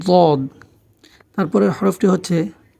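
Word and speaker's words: ض: এরপরের হরফটি হচ্ছে দদ, দদ। দাল এবং জ দুটার মাঝামাঝি, দদ, দদ। উচ্চারণটি হবে দদ।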